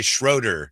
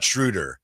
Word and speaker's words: Schröder: Can't we just say Schroeder, not Schröder? No, his name is Schröder. His name is Schröder. Right. I'm part German. Like I said, with the umlaut. That's his name.